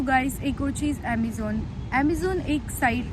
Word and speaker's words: Amizon: ये अमेज़ॉन नहीं है, ये अमेज़ॉन है, बट उसको प्रोनाउंस अमेज़ॉन ही बोलते हैं। तो AMIZON, अमेज़ॉन है।